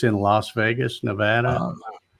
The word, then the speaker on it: Nevada: pronounce it well it it's like Nevada Nevada I mean yeah Ryan said it right it's Nevada well I was I